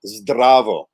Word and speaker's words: zdravo: So the standard, easy, typical way to say hello is zdravo. Zdravo. There's that trilled R and a combination of 3 consonants right at the start.